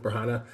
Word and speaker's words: Branagh: Is it Kenneth Branagh? Kenneth Bragna? Yeah. Kenneth Branagh.